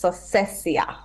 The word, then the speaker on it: Sosiessia: I've spent my entire life going through all different versions of my name, but for the record, it's Sosiessia. Sosiessia.